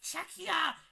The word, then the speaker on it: Czechia: Like, they kept saying Czech Republic. I'm like, no, it's Czechia!